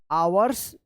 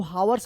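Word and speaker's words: hours: आवर्स, तो आवर्स मतलब होता है घंटा, इसमें एस लगा है तो घंटे होगा। इसको हावर्स मत पढ़िएगा, इसको एच जो है ना यहाँ पे साइलेंट रहता है।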